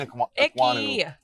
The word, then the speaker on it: Ekwonu: And now Keim Ekwonu, it's Keim Ekwonu. Yeah, it's Ekwonu season. We should just let him pronounce the name.